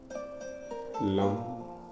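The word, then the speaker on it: Lam: मूलाधार चक्र का बीज मंत्र है लंब एल ए एम इस बीच मंत्र का उच्चारण मेरे साथ करें। लम लम लम लम लम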